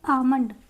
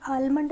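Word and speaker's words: almond: यहां पे आमंड यह आलमंड नहीं होता है जो बादाम होता है। आलमंड नहीं होता आमंड होता है।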